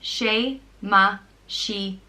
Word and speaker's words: Séamaisíona: may God protect, and it's pronounced Séamaisíona, and it's spelled with a fada over the E and a fada over the second I.